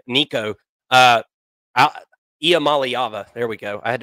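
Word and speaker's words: Iamaleava: I don't think anybody at this point is ready to say that Nico, I am Olivia, whatever the hell his last name, Nico, Iamaliava.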